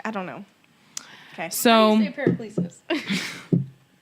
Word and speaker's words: Paracelsus: and Paraclesis. Hengris. Paracelsus.